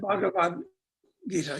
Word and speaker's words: Bhagavad Gita: I can't pronounce it right, but it's the Bhagavad Gita. Is that how you say it? Something Oh, like the that? Bhagavad Gita, yes, right.